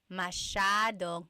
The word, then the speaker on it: masyadong: Masyadong means a lot. So the S-Y-A is a sh sound. Masyadong.